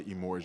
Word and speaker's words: Emorja: I'm like Emorja, and I said, just think of Elijah and say Emorja, because either they'll say Emorja, but it's real smooth, y'all.